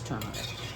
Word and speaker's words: turmeric: haven't said turmeric ones I hear it pronounced both ways but technically it is turmeric all right guys I'm